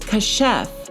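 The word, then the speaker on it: כָּשַׁף: So if we go to the Blue Letter Bible, that word for sorcerers is H3784 and it's pronounced kashef, and it means sorcerers, witch, or witchcraft.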